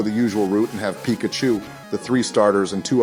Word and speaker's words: Pikachu: you we named our Picacho and honor you our first Pokemon and most trusted team member couldn't have been named anybody other than George Joe it's pronounced Pikachu that was worse than